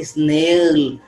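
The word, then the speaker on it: snarl: स्नॉल students, S एन ए आर एल, आर is silent in this word, this is नॉट स्नॉल, this is नॉट स्नेल, the word is, the correct pronunciation है स्नॉल।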